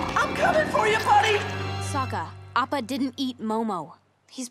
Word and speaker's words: Sokka: right, I'm Sokka. It's pronounced with an Akka.